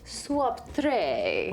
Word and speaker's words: swaptre: Okay, my word is swaptre. Ooh. The last T is silent.